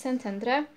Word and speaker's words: Szentendre: Pierwsza z nich to Szentendre, po węgiersku szy czyta się jak sy, więc Szentendre.